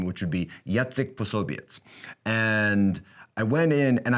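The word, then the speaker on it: Jacek Posobiec: and i changed my name to the polish pronunciation name which would be yatzik soviets and i went in and i used a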